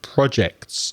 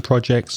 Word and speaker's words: project: life is full of projects i have teaching projects i have internet projects i have recording projects these days but if you change the stress on the word project you get project to project forward which